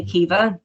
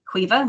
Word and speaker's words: Aoife: So I say Kiva, and I know you would say Quiva.